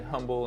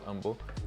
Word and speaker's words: Humble: you're in the area the H is silent for some reason I used to say humble until I got corrected